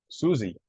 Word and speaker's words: Susie: This one is pronounced Susie. It's like a Z, like Z.